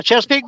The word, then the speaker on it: Chesapeake: Chesapeake? Yeah, Chesapeake Bay.